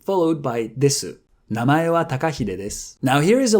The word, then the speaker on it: です: to pronounce, followed by the final desu, or this.